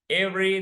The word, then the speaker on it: every: every usually interesting okay every every the pronunciation in two syllables every every two syllables you shall every the letter e is not pronounced every letter e or